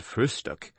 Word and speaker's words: Frühstück: the word breakfast, but always call it frühstück, with especial emphasis on the first syllable.